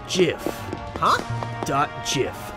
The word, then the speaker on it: GIF: the truth it's pronounced jiff huh dot jiff like the peanut butter the creator said so